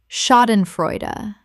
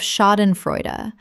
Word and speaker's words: Schadenfreude: Schadenfreude. Common mispronunciation. Schadenfreud. Correct pronunciation. Schadenfreude. Four syllables. The sh makes a sh sound and the final syllable is a, not silent. Example. She felt a twinge of schadenfreude when her most critical